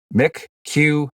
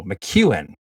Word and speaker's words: McEwen: Shout out to, and we've got pronunciation here, McQueen. Oh, McEwen. Oh, that's how you say McEwen.